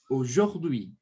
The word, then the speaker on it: aujourd'hui: Todas as vezes que você vir a U em uma palavra, o som é do quê? De O, tá? O. Dessa forma.